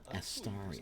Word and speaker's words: Astarion: It's Astarion.